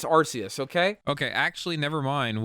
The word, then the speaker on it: Arceus: And for I think it's Arceus, okay?